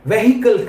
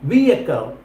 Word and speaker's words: vehicle: వెహికల్ కాదు కార్తిక్, అది vehicle. Vehicle. కాదు. కరెక్ట్ ప్రొనౌన్సియేషన్ ఏముందంటే vehicle.